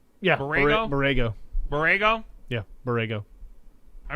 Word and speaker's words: Borrego: Yeah, Borrego.